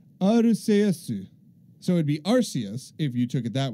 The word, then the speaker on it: Arceus: voice director Tom Wayland the dub chose pronounced Arceus with a hard C instead of a soft C due to concerns over